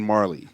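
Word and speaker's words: Majerle: Marley was spelt with like a J too. Yeah, I don't even know how you said Marley because it was like Marjorie or something. Because he's from Phoenix, so he knows how to say it. Yeah, it was. It definitely was. Majorie, something like that. The name was spelled differently. Yeah. I mean the J was silent for sure.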